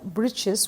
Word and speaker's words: breeches: author has used the word breeches which rhyme with the word witches and he has used